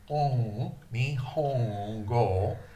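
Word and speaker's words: 日本語: The Nihongo, that sound, is a sound that we don't have in English. I believe you have it in many of your Indian languages. In French, it's very popular, a nasalized N. For example, the French word bon, bon, which means good. In English, we'd have to say bone. We don't have that sound in English. Bon. Nihongo. Nihongo.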